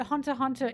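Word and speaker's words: Hunter × Hunter: Why do you call it Hunter Hunter if it's Hunter X Hunter? The X is silent.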